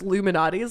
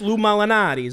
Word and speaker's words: Lou Malnati's: you to the background are you sure it's not pronounced Illuminati's though Lou malnaties there's I think you're making up blue molinati's okay I'm the Italian here all right it's Lou Malnati's huh okay okay got